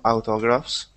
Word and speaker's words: autographs: to sign to sign autographs aut autographs in English autographs autographs all part of trying to